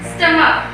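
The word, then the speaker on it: stomach: For example स्टमक. यहाँ इसके एंड में तो CH आया है लेकिन इसका प्रोनाउंसिएशन का आ रहा है, इसलिए यहाँ पर सिंपल S यूज करके इसका प्लूरल बनाएंगे.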